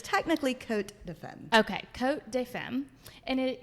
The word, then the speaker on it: Cotes De Femme: cuz I always say coat St fim that is not how you say it is it technically it's pronounced coat def the S is silent like they pronounce it